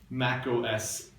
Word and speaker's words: macOS: for 15 years, but it's not called Mac OS X. You can call it Mac OS 10, but I prefer to treat the X as silent and pronounce this macos. It rhymes with tacos.